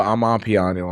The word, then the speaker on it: Amapiano: For Amapiano, I'm sorry. That's how you really pronounce it.